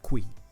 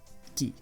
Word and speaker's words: qui: a Q and the you and you don't pronounce the you okay so this is not qui this is key just like the other one wasn't quite it